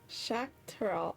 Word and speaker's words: Shakur: I've been saying Zach. Zakur. Shock. Shak. Shakur. Okay. I've been saying Zach.